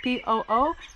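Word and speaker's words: Póo: .7 kilometers in, we made it to our first checkpoint of the day, and don't get it mistaken, this town is spelled P-O-O, but it's pronounced Po.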